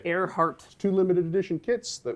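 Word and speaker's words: Ehrhardt: I built that thing learn how to say it air heart two limited edition kits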